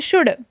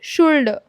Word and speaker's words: should: अभी जो मोस्टेंट पार्ट है यह जो वर्ड है ना इसको बहुत सारे स्टूडेंट्स शुल्ड कहते हैं। तो यह शुल्ड नहीं है। इसमें जो है एल साइलेंट है। तो हम इसे कहेंगे शुड ना कि शुल्ड।